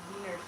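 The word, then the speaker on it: Wiener: Oh, I thought you were Oh, Tim said like schnitle is pronounced vener. Vener like a V.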